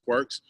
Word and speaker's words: Qwerkz: So the name of the company is Qwerkz. And it's kind of like a play on word sound. Like, so the sound Qwerkz rhymes with work, right?